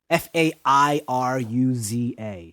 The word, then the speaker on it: Fairuza: Her name is like very kind of, it's spelled very strangely, so this is how I think it's pronounced. Fairuza Balk. Fairuza.